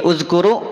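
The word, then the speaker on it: اذْكُرُوا: Nih uzkuru, kenapa dibaca u? Padahal kan tidak ada tanda baca, betul? Maka ketika ada, ini namanya hamzah wasol.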